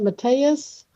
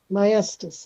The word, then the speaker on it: Maestas: You pronounce that Mateus? Maestas. Maestas.